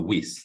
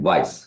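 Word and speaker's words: Weiss: uh is uh so I've attributed this to whis there's a it's usually called whis's conjecture but it's kind of a folklore actually it's Vice me it's benj Vice you pronounce his last name Vice okay vice vice it is um sorry about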